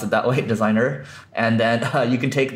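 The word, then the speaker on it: Designrr: so designer U or designer well we'll just pronounce it that way designer and then you can take the blog post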